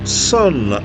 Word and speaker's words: Sunn: so I had to look up how to pronounce them the name of the band and it is just Sun they released their first album in 2000 and